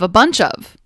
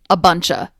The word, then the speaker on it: a bunch of: Similar to a lot of, we have a bunch of. This is one of my favorites. And again, watch the pronunciation change. A bunch of will often sound like a buncha.